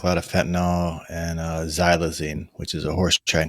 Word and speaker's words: xylazine: is it the xylene what how do you pronounce it again xylazine xylazine is it the xylazine that causes the